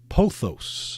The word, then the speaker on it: pothos: Number 3, pothos. Now that's spelled P-O-T-H-O-S.